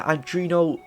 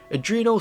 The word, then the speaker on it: Adreno: for the gpu it's got the arduino well why did i pronounce it like that adreno 650 baked in once